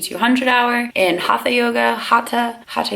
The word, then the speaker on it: Hatha: Hatha yoga is actually how you say it.